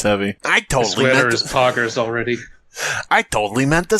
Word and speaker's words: poggers: poggers gruggly moat the best way to pronounce poggers if you're charlie cheese is to say paw right like it like an animal's paw and then gersh i don't i've just found